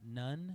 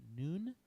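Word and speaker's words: נ: Then our N sound is nun. It's not none. It's pronounced noon.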